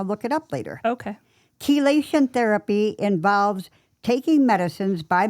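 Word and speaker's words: chelation: reduce your levels then your provider May prescribe kation therapy and kation is spelled c h e l a t i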